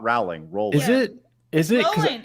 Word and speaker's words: Rowling: Rolling. It's like rolling like a river.